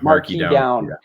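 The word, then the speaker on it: Marquis Downs: uh correct me if i'm wrong trying to pronounce is it marquise down marquee down yeah marquis down yeah so that the racetrack here in saskatoon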